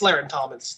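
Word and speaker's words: Larrin Thomas: like that goes but laran it's lair in thomas right yeah i said it right this time darren thompson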